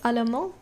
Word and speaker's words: allemand: So, je suis allemand. Je suis allemande. Nous sommes allemands. Nous sommes allemandes. So can you hear the tiny difference? So when it's masculine and masculine plural or singular, it's just allemand.